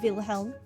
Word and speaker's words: Wilhelm: Anyway, I am Wilhelm, interim overseer of Le Maire, or Wilhelm, depends on how German you want to be in your pronunciation.